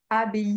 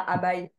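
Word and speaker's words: abbaye: Donc abaye, ça se prononce comme ça, pas abaï.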